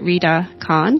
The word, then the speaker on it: Rida Khan: Welcome to this International Women's Day podcast, and I'm talking today to Rida Khan. Did I pronounce that correctly?